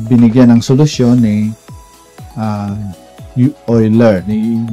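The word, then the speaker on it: Euler: At uh ito ay uh binigyan ng solusyon ni uh Oiler ni Uer ni Oiler. So 'yan 'yung pag gann 'yung pronounce natin.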